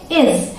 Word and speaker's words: is: ठीक है, अब अगला है आई एस, इसे हम प्रोनाउंस करते हैं इज।